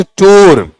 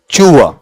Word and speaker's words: tour: इट इज नॉट टूर, इट इज नॉट ट्यूर। किसी बस पे देख लो सर फलां ट्रेवल्स पे लिखा है ना, उनसे मतलब नहीं है। इसका उच्चारण क्या रहेगा बताओ आपका, वहां बोलो, बोलो चूआ, ठीक है। ये टूआ ऐसा भी नहीं है, चूआ, च और च के बीच का साउंड है, और इस तरीके